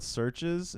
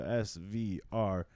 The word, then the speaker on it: SVRCHES: It's called SVRCHES. It's spelled like the band Churches, so SVRCHES.